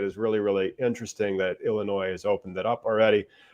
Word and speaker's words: Illinois: First off, it's pronounced Illinois. They don't say the S, but welcome other people, especially from out of state, to pronounce it Illinois, which is just hilarious.